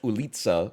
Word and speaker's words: ulica: Ulica, which I've been told many times, is actually pronounced Ulica or something.